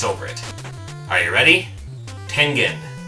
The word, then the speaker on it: Tengen: Tengen. It's Japanese.